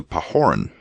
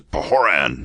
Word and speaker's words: Pahoran: drink that he immediately sent an epistle to pahoran Desiring oh sorry I didn't pronounce that right an epistle to pan there it is Desiring that he should cause